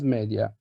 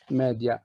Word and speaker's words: media: between music and mass media sorry but i prefer to pronounce it in its original latin form media not media i was a member